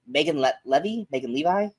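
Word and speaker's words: Leavey: It's a lot like, oh God, I want to say Megan Levi? Kate Mara. I think it's pronounced Levy.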